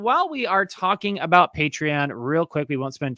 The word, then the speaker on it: Patreon: just a reminder that we are on patreon that's how you say it folks patreon thank you to all